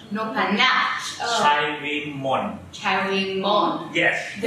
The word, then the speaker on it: Noppharnach: The right name Noppharnach. Noppharnach.